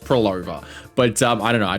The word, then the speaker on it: Phrolova: I'm well aware it's pronounced Prolova, but I don't know. I just, for some reason, I like to call her Pavlova.